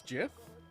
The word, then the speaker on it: GIF: right at least oh so we all agree that it's Jiff yeah I'm a gif